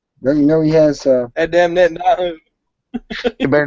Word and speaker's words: Netanyahu: You sound like George Bush trying to pronounce Netanyahu. Netanyahu. Netanyahu.